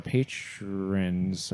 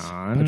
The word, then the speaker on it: Patreon: We reached out to our patrons over on Patrons. Patreon.